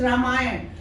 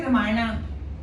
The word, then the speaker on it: Ram: because it is a holy book it is ramay but when we write we write like this in English in Hindi we write ra ramayan or ramayan I don't know ra ramayan okay we don't say ramay but in English since we put a people